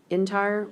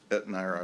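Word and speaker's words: Etnyre: a 3,500 gallon, and I think the proper way to say it is it entire water sprinkler? Etnire, I believe, but Judge, I Okay. was informed Oh, that this- sorry, Etnire. I said entire, Etnire.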